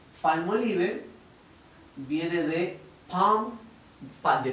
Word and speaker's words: Palmolive: español sumamos palmolive palmolive la forma correcta de pronunciarlo es como del jamón palmolive viene de un fan